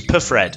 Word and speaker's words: Perfred: you've let me know it's not the silent p it is perfred so there we go